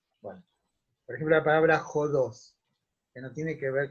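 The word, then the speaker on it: ὁδός: Y eso es porque en griego tiene lo que llaman espíritu áspero, que se pronuncia como una J, y es un signito así encima de la letra, ¿no?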